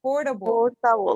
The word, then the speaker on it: portable: Portable. Make the T a little softer and put it into your top part of your portable.